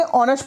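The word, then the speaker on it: honest: गया इस नॉट ऑनेस्ट आप इसको ऑनेस्ट नहीं बढ़ेंगे ऑनेस्ट पढ़ेंगे इसके अंदर ह साइलेंट होता है अब एग्जांपल नंबर 30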